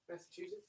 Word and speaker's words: Massachusetts: Massachusetts, isn't it? C-H-E, like chew. Massachusetts.